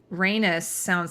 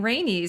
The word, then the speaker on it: Rhaenys: was saying Rhaenys because I thought Rhaenys rhymes with anus, right? Thank you. Some people were like saying Rhaenys, and I'm like, no, it sounds like anus. And then so I was saying Rhaenys.